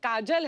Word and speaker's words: Kajol: बड़ा यूनिक नाम है आपका, काजोल। काजल है ना, but काजल होता है, काजोल हाँ, मतलब बंगाली में काजोल। बंगाली में बंगाली में ऐसे उसका प्रोनाउंसिएशन है पर सर।